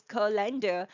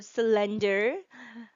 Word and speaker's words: colander: The correct pronunciation is colander, not colander or cylinder.